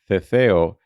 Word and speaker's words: Ceceo: Remember that this last category, Ceceo, is spelled C-E-C-E-O.